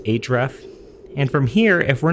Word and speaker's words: href: can say href that stands for hypertext reference or it's typically just pronounced href and from here if